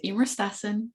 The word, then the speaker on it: Eimear: So I'm Eimear rhymes with Beamer.